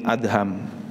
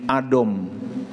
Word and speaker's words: Adham: Ada yang membaca Ibrahim bin Adom karena DH dianggapnya dhad gitu. Ibrahim bin Adam, idom Khalid gitu ya. Gara-garanya dha = d gitu. Jadi setiap yang dha dibacanya do sama dia.